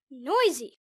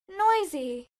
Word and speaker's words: noisy: Most two-syllable adjectives stress the first syllable. Listen. Noisy. Noisy.